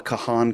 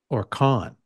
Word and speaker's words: Kahan: camera at the Noah Kahan concert, whoever that is. Is it Kahan or Kahn? It's spelled Kahan, K-A-H-A-N. I always thought it was pronounced Kahn, but we'll get 90 voicemails to correct us.